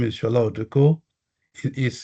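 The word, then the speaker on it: Sola Oduko: Again, my name is Shal Oduko. It is spelled S O L A and O D U K O.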